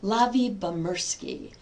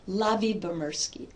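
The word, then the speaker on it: Lyubomirsky: Her last name is pronounced Lavi Bamurski. Lavi Bamurski.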